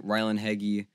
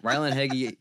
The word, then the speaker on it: Ryland Heggy: so again a little bit of more background Ryland heggy also you Ryland for saying that's how you pronounce your name I don't like it but